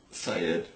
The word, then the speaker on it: Said: Syed. Yes, Said. My middle name is Syed. It's spelled as Said.